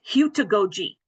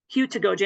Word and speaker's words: heutagogy: Okay, I'll just go right back to my – The correct pronunciation is heutagogy. Heutagogy, and I apologize, the video didn't work.